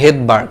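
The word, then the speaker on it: Svedberg: তো রাশিয়ান ভাষাতে সামনে যদি এরকম এস থাকে সেই এসটা হচ্ছে অনুচ্চারিত থাকে, এই কারণে এই ভেদবার্গ, এটার উচ্চারণটা কিন্তু ভেদবার্গ, বাট বানানটা দেখো সামনে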